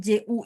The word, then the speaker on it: 巨: Jadi teman-teman, ini catatan buat teman-teman, JU itu bacanya mulutnya harus dibuletin. Ju. Ya, jadi sebagai catatan J, Q, X, dan Y, nanti mereka ketemu U-nya adalah bunyi U, sehingga bacanya Ju.